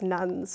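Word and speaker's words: nones: out about give or take a quarter of Americans say that they're religiously unaffiliated. The rise of the N-O-N-E-S, nuns, is another word that's often used.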